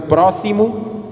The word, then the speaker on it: próximo: Mas eles explicaram que é preciso respeitar a pronúncia de Z, no caso de inexaurível, toma a pronúncia de S, dois S no caso de próximo.